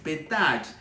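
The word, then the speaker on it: פתח: Y sabe que cuando la palabra hebrea para exposición es petach, dependiendo de cómo se pronuncie, con una E corta o larga, puede significar tanto puerta con una pronunciación de la E corta y revelación con una E larga.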